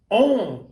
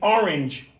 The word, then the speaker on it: orange: On is not an accent. It's a 2-syllable word that you've reduced to 1.